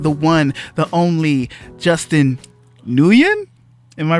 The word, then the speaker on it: Nguyen: And on today's podcast, we have the one, the only Justin Nguyen. Am I pronouncing that right? It's a, yeah, just like.